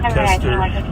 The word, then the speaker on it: Koester: I'm not even sure how to pronounce Matthew's last name. Koester or Kester, Matthew Kester, and it's Koester.